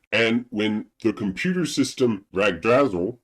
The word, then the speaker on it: Yggdrasil: And when the computer system Ragdrazel, or Yggdrasil, they don't pronounce it like Yggdrasil though, when that breaks down, it sends bugs into the world.